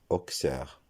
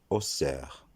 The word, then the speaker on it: Auxerre: Même si ce nom s'écrit avec un X, la prononciation ne sera pas Auxerre, comme dans le nom auxiliaire par exemple, mais ce nom se prononcera Auxerre.